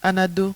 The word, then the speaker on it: Anado: Non, c'est pas bien prononcé. Anado.